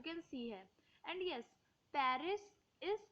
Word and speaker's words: Paris: has a friend named Pari so it's party is Paris but in France we say party because in France we actually usually skip the last letter we don't pronounce it it's silent in uh every last